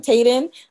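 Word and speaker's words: Taiden: by millie um tayden i want to say her name is t-a-i-d-e-n tayden i've read quite a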